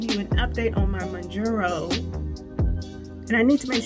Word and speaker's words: Mounjaro: Because for the longest time, I've been saying Mounjaro. I think I'm adding an N. Should be Mounjaro.